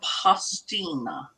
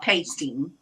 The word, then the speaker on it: pastina: It um it's called pastina, not pasting. Pastina.